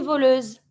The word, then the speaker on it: voleuse: Un voleur, une voleuse. Same thing. Never pronounce the E, but you always pronounce what's in front of the mute E, and if it's a S between two vowels, Z sound.